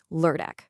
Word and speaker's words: lørdag: Okay, that ø sound can be a little tricky if you're not used to it. The best way I can describe it is like the er sound in fur or burn.